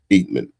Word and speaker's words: Eatmon: So the correct pronunciation of your last name is Eatmon.